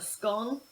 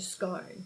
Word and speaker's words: scone: according to several websites there are two ways to pronounce it you can pronounce it scone and you can pronounce it scone even the queen can't decide on which is the correct one so please can we